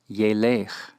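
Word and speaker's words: ילך: Halach behaves as if it were a first yod verb, and so is pronounced yelech, yelech.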